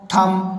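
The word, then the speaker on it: thumb: वैसे ही यहाँ पर कॉम, थम, यहाँ पर बी का उच्चारण नहीं हो रहा है।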